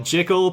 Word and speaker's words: Jickle: It's spelled Jickle, pronounced Jickle. Fantastic.